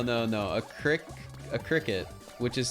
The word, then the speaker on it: Cricut: paper though no no no a crick a cricket which is spelled Cris c-u-t is a cutting machine so